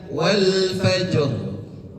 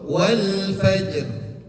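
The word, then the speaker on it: والفجر: Wal fajr. Bukan wal fajr. Beda ya. Bacaan yang salah, yang keliru wal fajr. Rohnya tebal. Oke? Bacaan yang betul wal fajr.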